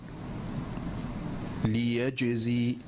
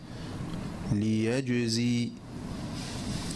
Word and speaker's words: ليجزي: رجز، رجز، إخراج، إخراج، ليجزي، ليجزي، الأجداث، الأجداث. الأولى خاطئة. So the first one is incorrect. Each of the first ones are incorrect and each of the second ones are correct.